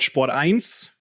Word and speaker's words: Sport1: the gym Broadcasting Company which is called sport eins to pronouncing it in in German and and there I